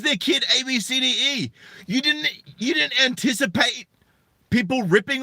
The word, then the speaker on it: Abcde: Tracy Redford told ABC affiliate, KABC, her daughter's name is Abcde, which is pronounced Abcde.